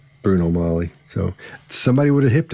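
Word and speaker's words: Bruno Magli: and a halfs um he knows it's not pronounced Bruno magley it's not pronounced and in the circles he ran in somebody would have said dude don't don't don't say magley it's it's it's Bruno Molly so somebody would have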